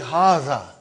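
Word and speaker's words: هذا: See, it is pronounced like Haza. But this alif is not written.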